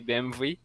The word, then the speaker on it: BMW: some stuff for example BMW I always pronounced BMW but now maybe I can try to say BMV and defend yourself saying like a German person told me yes and it